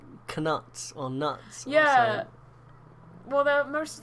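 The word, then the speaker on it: Knut: know yeah one's called nut I don't know what the other why did you say canut why did you pronounce the k a k do you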